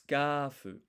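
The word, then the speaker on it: スカーフ: So first of all, it's skafu. So this is the katakana character for ka. But what we really want is it to be an extended sound, skafu. So this dash here extends the vowel sound. And then here, if we listen, skafu, there's no U sound here.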